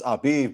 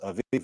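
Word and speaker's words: אביב: It's Abiv, but it's pronounced Aviv right here.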